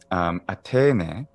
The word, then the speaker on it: Athene: 5th century, Athene. Athene. Now, later, the pronunciation of theta, which modern Greeks call theta,